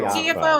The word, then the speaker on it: Tiafoe: Is it Tiafoe or Tiafoe? Well, you Americans say Tiafoe, but it's Tiafoe.